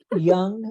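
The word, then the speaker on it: Jung: people like contemporary philosophers yeah no like Carl Young is spelled j-u and G if that's what you're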